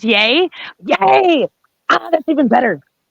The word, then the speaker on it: Yea: It's pronounced Yay.